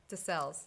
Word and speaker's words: Desselles: joellen how do you say your last name desales that's what i thought but i normally botch